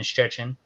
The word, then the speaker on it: Szczecin: It's actually in a city where I live in, Szczecin, Poland.